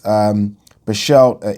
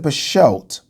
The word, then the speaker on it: Berchelt: Is it Berchelt, pronouncing the T or not pronouncing it?